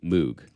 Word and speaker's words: Moog: of the Moog synthesizer, it's almost ubiquitously Moog because that's just kind of how the Brits say it. Right. So if you say it that way, it's not wrong. It's just like that's kind of the English dialect.